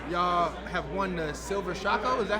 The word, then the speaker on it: Shako: Y'all have won the Silver Shako, is that how you say it? Shako, Silver Shako.